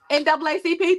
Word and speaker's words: NAACP: It's supposed to be NAACP. That's the proper way. Okay, got Yes, that's a proper way to say it. it. Okay. But we still was up in there like NAACP.